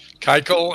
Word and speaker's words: Keuchel: I'm sorry, I know I said his name wrong. How do you say his name, Drew? Keuchel, and he's been released.